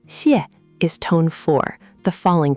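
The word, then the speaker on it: 谢: In Pinyin, X isn't like the English X in box. It's a soft hissing sound, somewhere between S and Sh with your tongue near the front of your mouth, air leaking out the sides. Xiè. Xiè. Xiè. Okay, less Sh, more of a hiss.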